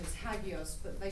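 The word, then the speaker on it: ἅγιος: i o s hagos or agios the cor pronunciation is hagos but they say agos today and uh Aya and I don't know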